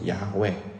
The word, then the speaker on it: 야훼: 그래서 이제 여호와를 이제 보통 우리가 그냥 발음으로만 하면 이제 야훼 숨을 쉬듯이 이렇게 하는 게 야훼라고 한다.